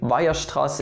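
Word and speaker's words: Weierstrass: i'm wrong but yeah that's his name viastras and no there is no stress on the wire it's just strass on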